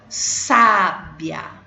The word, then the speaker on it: sábia: Então, olha a pronúncia como é diferente. Sabia, sábia, tá bom?